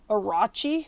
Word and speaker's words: Orochi: at the new razer i guess they want to pronounce it arachi anyway it's the arachi v2 that's what we're